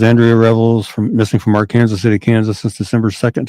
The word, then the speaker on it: Arkansas: to be and yes in Kansas we call it our Kansas instead of Arkansas so it is our Kansas our Kansas City in Kansas y they